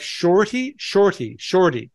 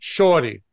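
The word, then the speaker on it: shawty: And it is pronounced and even written S-H-A-W-T-Y. Like shorty. It's pronounced shorty.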